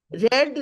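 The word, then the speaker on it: read: रीड, रेड, रेड। Spelling same है number 18 में, आप देखिए, लेकिन प्रोनाउंसिएशन क्या हो गया? रेड।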